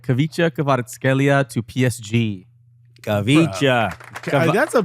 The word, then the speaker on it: Khvicha Kvaratskhelia: All right, Khvicha Kvaratskhelia to PSG. Khvicha. That's a plus for you for the pronunciation, Kvaradona.